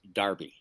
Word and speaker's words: Derby: who are watching that that's how Derby is pronounced and soccer PTO is is Darby and uh right so